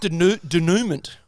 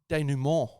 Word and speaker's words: denouement: It's not denouement, it's denouement. Oh. Yeah. So I want to apologise to the people of France. Yes. So it's a denouement is how it's pronounced.